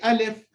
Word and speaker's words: alif: go into c5 so ah uh simple no tongue movement no nothing just let the sound straight out of the mouth so that's the in a very simple not in a nutshell how you pronounce it alif it could it can't